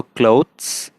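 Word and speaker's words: clothes: हल्का सा वो त सुनाई भी नहीं देना चाहिए, इतना हल्का है। ये साउंड मुश्किल है, मैंने आपको पहले भी बताया था। तो क्लोथ्स और मंथ्स।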